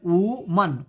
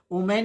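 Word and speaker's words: woman: तो लेकिन ये ओमेन नहीं लिखा है, ये लिखा है वो ओमन, ओमन, इसे ओमन पढ़ते हैं, ओमन, ओवा में ऊमन, ऊमन, ओमेन ना, ऊमन।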